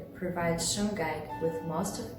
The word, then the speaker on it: Shungite: If you want to go for authentic Russian pronunciation, you should say Shungite. However, we completely understand that the English language has its own rules of reading and speaking, so the pronunciation Shungite is totally acceptable, especially since it's already widespread.